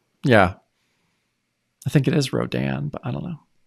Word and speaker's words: Rodan: That's where the That's where the syllable goes, too. It's Rodan.